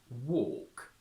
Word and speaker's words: walk: we have a plus a silent L plus K torque walk talk and a followed by